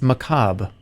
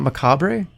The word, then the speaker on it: macabre: you say it macabre it's macabre it's not macabre the r is silent it's French did I just okay